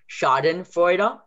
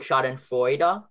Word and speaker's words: Schadenfreude: And then in this case, Oi, like Schadenfreude, is EU. So Au is AU. Oi is EU.